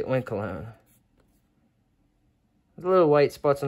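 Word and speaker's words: Oinkologne: and blink oink hmm oink alone oink alone it's like cologne that's how it's spelled so I'm gonna say oink alone the little white spots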